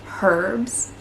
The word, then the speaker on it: herbs: in the states well over here in australia they do pronounce the h so it is herbs it's still kind of